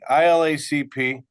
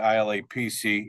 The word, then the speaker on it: ILACP: I said it right, Kenny. ILACP. For everybody out there, I stood in front of the panel about 3 years ago and continue to say ILAPC, even though I practiced it for over an hour